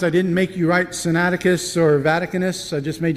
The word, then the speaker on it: Sinaiticus: These two manuscripts are what are known as the Codex Sinaitic. I worked all week to learn how to say this, and I messed it up. Sinaiticus and Codex Vaticanus.